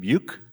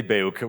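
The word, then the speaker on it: BEUC: consumer Choice I'm pronouncing the Germans pronouncing Bo which sounds not so nice the French pronouncing buuk which sounds even worse we can just say beok which is totally fine fantastic beok um which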